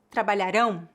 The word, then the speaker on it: trabalharão: No entanto, a sílaba tônica de palavras com ditongo ão geralmente é a última, palavras oxítonas, enquanto a sílaba tônica de palavras terminadas em AM é a penúltima, palavras paroxítonas.